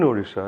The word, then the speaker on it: Odisha: orissa orissa or girisha to use the proper pronunciation but it never bothered to approach the community in odisha in lanjigarh in kalahandi district where we ran